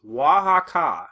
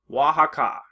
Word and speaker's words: Oaxaca: Lake Texcoco, Mayapan, and Oaxaca. That's Oaxaca. So it's spelled very differently, but it's again pronounced Oaxaca.